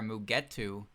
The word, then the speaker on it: Mugetsu: Their names are Mugetu and Gengetu. There's the the final character in their name is Tu, not Tsu.